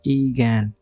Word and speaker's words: Eigen: एगन pronounced ईगैन is a German word that means own or innate, as in belonging to the parent matrix.